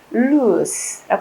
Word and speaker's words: loose: 발음을 loose라고 합니다.